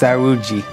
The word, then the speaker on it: saúde: their health and happiness, which in Portuguese is pronounced saúde.